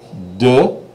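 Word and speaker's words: deux: say it uh uh okay du du like well duh how could you have been that silly okay duh and then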